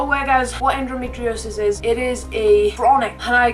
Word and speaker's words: endometriosis: you cannot read it, if you cannot pronounce it, it is said as endometriosis.